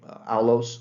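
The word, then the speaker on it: aulos: playing uh Greek instruments this is a alos flute that's spelled a-u-l-o-s and then there's a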